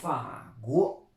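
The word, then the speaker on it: 法国: Faguo, Faguo. Et oui, la France se dit Faguo. Vous avez le Fa, un peu de France, mais le FR est très difficile à prononcer pour les Chinois.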